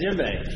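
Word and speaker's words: djembe: brought my drums yeah Jim jimbe yeah with that's with the silent d right how you spell it DJ so fun I mean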